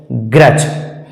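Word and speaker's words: grudge: जी आर यू डी जी ई इसका सही उच्चारण हो जाएगा ग ग्रज आगे है बी यू डी जी ईटी बी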